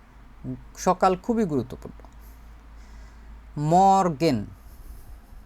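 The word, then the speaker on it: Morgen: ডে সকাল খুবই গুরুত্বপূর্ণ মরগেন যদি আমরা এটা বাংলিশ করে লিখি শুধুমাত্র উচ্চারণটা এটা হবে হচ্ছে মর গান ন মরগেন মরগেন উচ্চারণ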